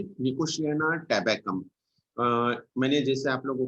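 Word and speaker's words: Nicotiana: कई लोग प्रोनाउंसिएशन में थोड़ा गड़बड़ करते हैं, बीच में टी है, ये टी साइलेंट है, निकोशियाना टी साइलेंट है, इसका प्रोनाउंसिएशन ऐसा नहीं करना, निकोटियाना, निकोशियाना टैबेकम।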